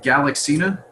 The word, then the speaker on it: Galaxina: Is it, I can never pronounce, is it Galaxina? Yes, that's correct.